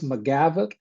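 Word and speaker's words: McGavock: It's 146 McGavoc, MC G A V O C K Pike, P I K E.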